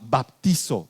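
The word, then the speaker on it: βαπτίζω: Pero eso significa en nuestro idioma baptizo, así se pronunciaría, baptizo.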